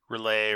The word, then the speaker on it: R'lyeh: uh dreams of no no matter how we say it we're not insane so we're going to be saying it wrong it's like R apostrophe l y h yeah relay right yeah anyway so we